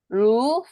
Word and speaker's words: roux: roux, for example. 루라고 읽어주셔야 돼요.